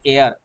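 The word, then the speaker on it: heir: বা উত্তরাধিকারী তাহলে এখানে এ আর দেখো আমি হেয়ার বলছি না এইচ এর প্রোনাউন্সিয়েশন কেমন হচ্ছে এয়ার এটা হচ্ছে কি ভাওয়েল সাউন্ড তার জন্য আমাদের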